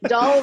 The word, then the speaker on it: Dahl: Dahl rhymes with shawl.